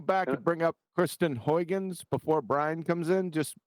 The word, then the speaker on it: Huygens: Oh, Huygens. Yeah. Huygens. That's how you pronounce it.